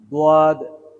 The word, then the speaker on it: ض: এই জন্য এখানে স, স, স, স, দোয়াদ, দোয়াদ, দোয়াদ। এই দোয়াদের উচ্চারণটা ওই রূপ, গোল ঠোঁট দুটো গোল হবে এমনটা।